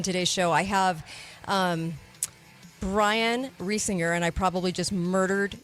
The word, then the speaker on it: Reisinger: I have Brian Reisinger, and I probably just murdered your name, Brian. Brian, did I murder your name? Oh, it's all, I get all kinds of pronunciation. It's Reisinger, like the farmer rising shores and Okay.